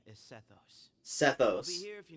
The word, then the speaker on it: Sethos: fit sethos okay that's how you say it sethos so we're free to EXP I mean I'm